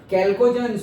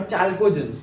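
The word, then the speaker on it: chalcogens: कैल्कोजेंस और चाल्कोजेंस दोनों प्रोनाउंसिएशन करते हैं पीपल।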